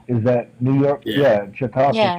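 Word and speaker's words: Chautauqua: how to pronounce it chiaka is that New York yeah chiaka County okay that's how it's said I believe you do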